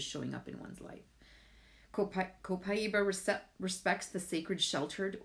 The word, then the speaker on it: copaiba: well it's actually pronounced copaiba because it comes from Brazil and the Brazilians pronounce it copaiba it's from a tree